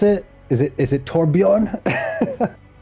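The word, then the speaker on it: Torbjörn: How do you pronounce it? Is it Torbjorn? Torbjorn.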